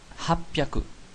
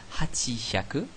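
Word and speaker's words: 八百: Mais pour 800, on a hapyaku. C'est devenu un seul mot, ça s'est condensé. On ne dit pas hachihyaku, qui serait la prononciation logique d'après ce qu'on vient de voir. Non, on dit hapyaku.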